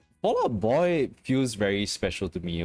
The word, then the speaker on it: Fall Out Boy: Full Out Boy. Full Out Boy. Fall Out Boy. Fall Out Boy. That's how they say it in like Full Metal Alchemist. But Fall Out Boy.